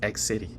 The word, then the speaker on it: Xity: why that is happening because of the pronunciation X City when they hear X City the thing is X and then there's an extra C there it is not the case and again the pronunciation is X City uh having uh gone through this uh basic